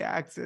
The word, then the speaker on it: AXS: of the access so when I say access is spelled AXS so when we're talking